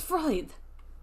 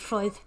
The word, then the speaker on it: Freud: fraud Feud Why did I think it was fraud God damn it Freud three two one go no I'm just an